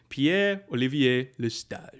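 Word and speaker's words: Pierre-Olivier Lestage: Now, so if I was going to do like full on French pronunciation, Pierre Olivier Lestage.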